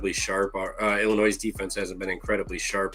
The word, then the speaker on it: Illinois: Someone said it's Illinois. I was talking about a comment. It said it's Illinois, dude. You don't pronounce the S, idiot.